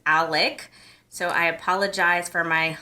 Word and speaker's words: Alec: I think I've been saying Alex and his actual name is Alec.